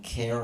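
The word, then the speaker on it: CAIR: Um rhymes with pair. Um, I knew I I was in Canada when KER, I'll just say it. I was in Canada when Care America was looking to open a Canadian chapter.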